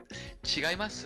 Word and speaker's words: 違います: Chigaimasu? I assume? 違います? Uh, in this sentence, by the way, she would pronounce it like more like 違います?